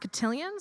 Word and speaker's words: Cotillion: And I believe this is pronounced cotillion, so it was originally Cotillion Hall.